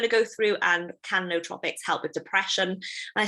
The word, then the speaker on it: nootropics: today it's all about no atrophics or nootropics i like to call them but the right way to pronounce them is no tropics so we're gonna go